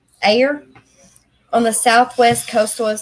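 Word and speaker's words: Ayr: her home in a a y r how do you say that air air on the Southwest Coastal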